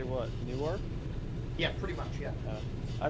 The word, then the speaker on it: Newark: Newark? Yeah, pretty much, yeah. I mean, I know it's Newark, but I always said Newark, like N-O-R-K. Newark. Yeah, Newark is Newark. more fun to Newark.